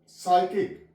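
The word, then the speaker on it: psychic: ओ जी वा यहां प पी साइलेंट है साइकिक प साइलेंट है यहां प आगे आ जाएगा ू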